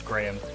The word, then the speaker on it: Graham: I like that movie, but it really winds me up how she says Graham. Americans can't pronounce Graham. They say Graham, which is absurd. It's 2 syllables.